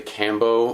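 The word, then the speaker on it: Kambo: In America, a lot of people say Cambo. Yeah. In South America, everyone says Combo. I prefer Combo because I grew up in Western New York where everyone has a hard A in their accent. So Cambo to me just reminds me of Buffalo, and I'm like, so I say Combo, but they're both correct.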